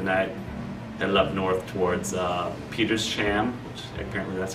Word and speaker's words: Petersham: They camped out there for the night, headed up north towards Petersham, which apparently that's how you pronounce it, I learned at one point.